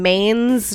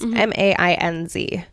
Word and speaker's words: Mainz: but a girl named Agnes was born in Mainz, Germany. I think that's how you say it. Mainz, Mainz, M-A-I-N-Z.